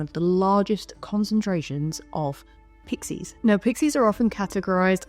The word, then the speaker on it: pixie: Whilst they're most commonly known as pixies, there is a lot of variation in terms of the spelling and slight pronunciation of the name, because they're also known as piskies, pixie with a Y or an IE, Pizkie with a ZKIE, or Pigsy. Like, a lot of it's regional and it all kind of